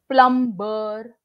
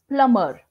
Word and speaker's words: plumber: this word pronounced as plum bur no if you pronounce it like this it's not correct it has to be plumber b is going to be silent over here when i say silent